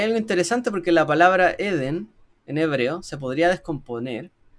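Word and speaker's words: עֵדֶן: La palabra Eden en hebreo, que no sé, en hebreo se dice Eden y no Edén, es como al revés la acentuación, simboliza el paraíso. Ahora, hay algo interesante porque la palabra Eden en hebreo se podría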